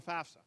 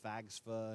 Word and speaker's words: FAFSA: And you'd be amazed at how many people butcher the pronunciation of FAFSA. It's actually, I've had somebody call it FAGSFA, and it's really funny.